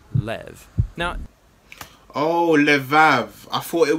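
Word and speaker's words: לב: word in this prayer heart which in Hebrew is sometimes pronounced Lev or more often in a shorter form Lev now oh I thought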